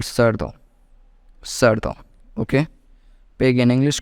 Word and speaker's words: cerdo: So E makes C to pronounce like C, therefore it will join E in a table which pronounced C as C.